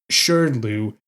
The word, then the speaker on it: SHRDLU: somehow makes it worse it's spelled s-h-r-d-l-u and I'm gonna try and pronounce it sure Lou since that's the only reasonable way I can think to deal with this I think a